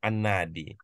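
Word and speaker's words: النادي: Kita mewakofkan, jadi kita Vinadi, bacanya an-nadi.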